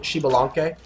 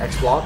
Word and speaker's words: Xbalanque: it only works if you pronounce it shalan if you pronoun it pronounce it xan it doesn't uh it